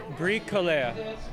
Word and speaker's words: Bricoleur: Well, what is the proper pronunciation? Bricoleur.